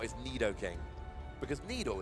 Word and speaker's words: Nidoking: it litter King oh I say Nidoking Nido King yeah Nidoking yeah I said little King as a kid and it's not his Nidoking because Nido it's like